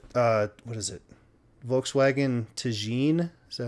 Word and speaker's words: Tiguan: asked a guy and he said it's pronounced tagine that's spelled tiguan so i don't know why